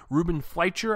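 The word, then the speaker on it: Ruben Fleischer: to be directed by Ruben figher I believe is how he pronounced his name and he's the director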